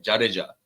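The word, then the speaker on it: जडेजा: से ही आते हैं लेकिन उच्चारण होता है जड़ जा वो असल उच्चारण नहीं है वो असल जो उसका प्रोनंसिएशन है वो है जाड़ जा ज नहीं जा जाड़ जा सरनेम है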